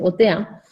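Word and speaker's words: Othéa: Y Otea, que en realidad es Otea, porque se pronuncia en francés, Otea, es una diosa que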